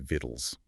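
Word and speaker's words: victuals: They crammed a c and a u into the spelling, but everyday people, they just kept saying vittles.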